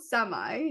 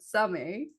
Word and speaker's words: Samay: to pronounce your company name yeah it's called Sami not Sami uh like you would pronounce it in English or Hindi um it